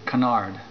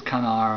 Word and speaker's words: canard: on it which is Canard see a n a r d in French it's canar I'm sure you don't say the D canar but uh it